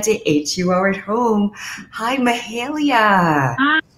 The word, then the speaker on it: Mahalia: Hi, Mahalia. Hi, how are you? I'm doing well. See, I got the pronunciation right that time.